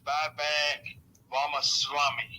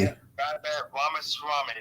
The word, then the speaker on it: Vivek Ramaswamy: Yeah, his name is Vivek Ramaswamy. Ramaswamy. Vivek Ramaswamy. Now, you can call him Salami if that helps. Just call him Vivek Salami. Yeah, or cowards. Or cowards. Vivek Ramaswamy.